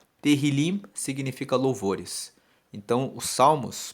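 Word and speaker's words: Tehillim: o livro de Salmos no hebraico se chama terril se escreve t e h i l i m teril significa louvores Então os salmos para os Judeus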